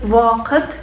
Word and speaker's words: вакыт: У нас есть в вакыт. Вы бы читали так. А на татарском в читается как вакыт, вакыт. То есть в это как на английском тоже читается также вакыт.